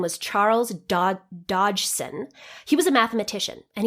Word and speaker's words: Dodgson: Dodgson is how he would pronounce it.